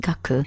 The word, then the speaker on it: 学: is this one here learning it's pronounced gaku and we already know